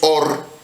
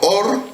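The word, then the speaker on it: עור: que en hebreo es or y or también significa luz hay dos eh formas de pronunciarlo se pronuncia igual pero significa diferente or que significa luz pero or también significa piel en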